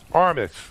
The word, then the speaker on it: Armis: you are from our aramis or is it pronounced aramis or aramis armis okay yes um and armis is a you